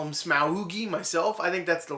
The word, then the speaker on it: Smaug: smog or smog I like to call him smoi myself I think that's the right way to pronounce it I'm pretty sure that's right so